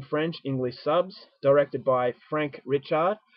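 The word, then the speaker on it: Franck Richet: English subs directed by Frank richer although I think the way to pronounce these name in French is Franck richer so I could be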